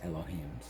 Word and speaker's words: Elohim: about the word elohim yeah and how it's pronounced right and it's elohim and they're it's plural because there's many and